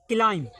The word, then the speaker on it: climb: एम के बाद बी है तो बी का हो जाए साइलेंट।